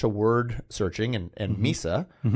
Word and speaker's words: Mysa: say it and I was like well it's Misa and it's cozy.